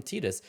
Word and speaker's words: Tidus: But if you actually listen to interviews with the creators of Final Fantasy, they call him Tidus, which I absolutely hate.